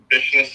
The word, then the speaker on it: Bishness: Bishness. It's a combination of my last name. Bishop and business.